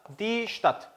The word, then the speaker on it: Stadt: 자, 그리고 또 하나가 start라는 표현인데, 자, 우리가 발음 주의할 게 요거하고 똑같죠. start, die Stadt.